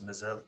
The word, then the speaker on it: Mesel: in sao paulo and his last name is pronounced as mazel correct fernando so back